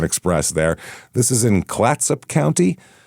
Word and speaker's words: Clatsop: This is in Klatsup County. Klatsup, I believe is how you say that. C L A T S O P. Clatsup. That sounds right. Clatsop. Something like that.